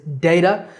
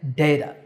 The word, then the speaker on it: data: data and even data but the most common pronunciation is data and that's how I recommend you say this word once again data the next word is cupboard it refers to